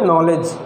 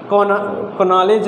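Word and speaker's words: knowledge: काफ़ी इम्पॉर्टेंट है इसके, इसका भी के लेटर साइलेंट है। हम लोग यहाँ से पढ़ते हैं नॉलेज, कनॉलेज नहीं पढ़ते हैं, ठीक। कनॉलेज पढ़ेंगे तो गलत हो जाएगा।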